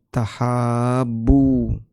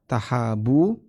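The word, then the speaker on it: تحابوا: Bacanya pakai tasdid, tahabbu. Karena kalau dibaca tanpa tasdid, tahabu dari kata muhabah yang artinya toleransi. Kalau tahabbu pakai tasdid baknya dari kata mahabbah yang artinya mencintai.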